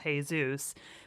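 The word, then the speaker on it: Jesús: How about the first time I was in a classroom in Arizona and I called a kid Jesus instead of Jesus because I was a Midwestern kid, Pronunciation is important.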